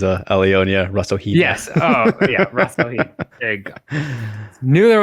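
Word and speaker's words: Rasohyna: we've got Seo Hee Ham, Stamp Fairtex, Alyona Rassohyna, Alyse Anderson, Itsuki Hirata, Ritu Phogat, and Denice Zamboanga. Hopefully didn't butcher that too much. The one you only really butchered was Alyona Rassohyna. Yes. Oh, yeah. Rassohyna.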